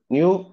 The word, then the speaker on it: know: நோ தான் அது பாருங்க என் ஓனாலும் நோன்னு தான் உச்சரிக்கணும் know னாலும் கேவ கட் பண்ணி டபுள் கட் பண்ணிட்டு வெறும் என் ஒன்னு தான் அப்ப அவர் ஒரு இங்கிலீஷ்காரர்